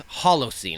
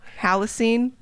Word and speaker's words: Halocene: I pronounce it like Halloween. Halocene. Oh, yeah. So that's how I remember it.